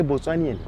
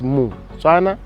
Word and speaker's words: Motswana: You don't say Botswanian. One is Motswana, more than one Batswana.